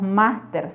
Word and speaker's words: máster: Aquí tenemos los extranjerismos con su grafía original, pero con pronunciación y acentuación gráfica del español. Un ejemplo es la palabra máster, que viene de máster